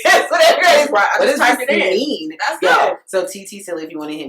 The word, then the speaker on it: ttsille: word is right yes whatever it is so tt silly if you want to hit me up personally